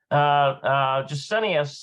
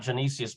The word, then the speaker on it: Gesenius: Gesenius, not Genesius, but Gesenius, I think is how you say that, Gesenius, relates that this later meaning stemmed from the word describing the whispers of the soothsayers.